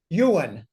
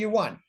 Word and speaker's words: yuan: using the one uan actually it's pronounced Yuan but I I say uan I had some Chinese